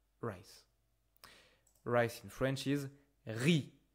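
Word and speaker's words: riz: Rice in French is re. Careful, we don't pronounce the z re.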